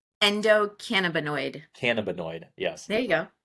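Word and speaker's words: endocannabinoid: you say it yeah you almost got it endoc camid Endo cannaboid cannaboid yes there you go um I mean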